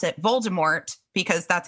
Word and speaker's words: Voldemort: So I think that it's the French pronunciation of the where they drop the T.